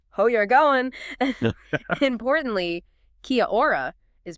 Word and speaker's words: kia ora: Importantly, kiaora is pronounced kia o a.